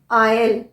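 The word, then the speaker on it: isle: इनका प्रोनंसिएशन दोनों का प्रोनंसिएशन लगभग सेम है आयल आयल ए आई एस एल ई आयल जो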